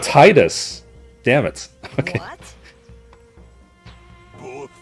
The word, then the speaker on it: Tidus: See, I'm saying it right now. Tidus.